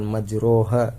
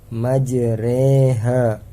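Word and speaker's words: مجريها: tulisan imalah yang artinya cara bacanya yaitu memiringkan fathah ke kasr jadi dibaca Bukan majroha tapi majreha bismillah majreha dibacanya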